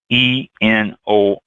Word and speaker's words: Enoree: That's Enoree, Enoree. Yes, just like Henry VIII.